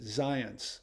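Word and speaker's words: Zajonc: ethnicity that is but he pronounces it zion's like the word science that's great um yeah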